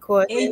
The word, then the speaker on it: kwaheri: Yes, it's kwaheri, but it's one word.